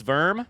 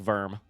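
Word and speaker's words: Wurm: I don't know if it's verm, but it's sure pronounced like verm. It's W-U-R-M, which I bet is pronounced verm. Except with a German accent.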